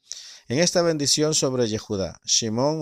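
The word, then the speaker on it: שמעון: ver nosotros encontramos que simeón que pronuncian hebreo simon no fue mencionado específicamente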